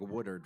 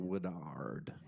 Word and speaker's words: Woodard: I feel like the way that I emphasized the last syllable there was a little bit awkward. It's probably more like Woodard, right?